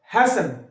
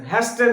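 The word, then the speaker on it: hasten: এবার হচ্ছে টি, টি সাইলেন্ট, হ্যাসেন, কি বললাম হ্যাসেন, হ্যাস্টেন নয়, হ্যাসেন।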